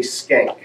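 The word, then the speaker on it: Schenck: political science classes and he said that it's technically skank but I always kind of stayed away from that pronunciation Frankenstein Frankenstein right skank sounds a little yeah so I've just always gone with shank but I I think technically SK based on what he said anyway uh four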